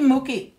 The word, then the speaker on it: Mookie: Now, Debbie Mookie, I have to say, it rhymes with cookie.